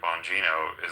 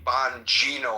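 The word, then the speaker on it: Bongino: he ever appoint Dan Bonino is like, you know, maybe they just didn't and and thank you for correcting me. Von Gino. I think I mispronounced his name in the iPod.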